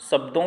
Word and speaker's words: श: तो यहाँ पर हम बता रहे हैं आपको, सा जो है पहला वाला वो तालव्य वर्ण है, शा।